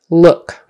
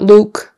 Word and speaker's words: look: that horseshoe U sound, Look, not Luke, not Loke, not Luck, that'd be a different word. It's look, look.